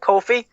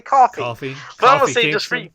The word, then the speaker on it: Kofi: they showed a Kofi see that Kofi I said I said it right I didn't say coffee I must say just